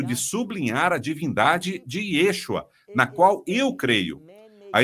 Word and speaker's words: Yeshua: ele é Divino na e eles dizem yashua bem temos um problema não com a mensagem ou com a sua intenção se não que yashua não hebraico e é uma criação humana para pronunciar esse nome e é incorreta não é fiel ao que diz o texto que você o chamar ah e Yeshua por aqui vemos no